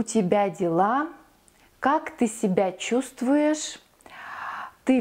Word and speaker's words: чувствуешь: Как ты себя чувствуешь? We spell чувствуешь, we pronounce чувствуешь.